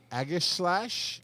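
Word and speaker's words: Aegislash: sword that that's a good one logan shiny aggies slash is how you say that agent it's pretty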